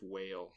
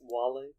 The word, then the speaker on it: Wale: there any love with whale yeah it's pronounced wally oh oops oh my